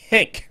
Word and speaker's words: Henk: It's Henk. It's not Hank. It's not Hank. It's Henk. It's not Hank. It's not Hank, guys. Rhymes with spank and bank. Rhymes with platinum Grammy award-winning recording artist Pink. Pink.